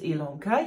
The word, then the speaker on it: Ilanka: longer my name is ilanka yes it's spelled with an i but pronounced with an e and this is a